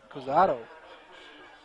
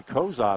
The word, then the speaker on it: Cozad: No, it's Brady Cusato. That was number two? I thought it was. Brady Cozad, I think, is who. Cozad, okay. Yeah, that's a D, not an O.